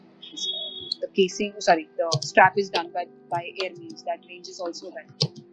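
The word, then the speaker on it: Hermès: I'm sorry if I butchered it. No, that's how you pronounce it. So, Okay. they have weird pronunciation, I must agree, but then you need to value the way that they are pronouncing it.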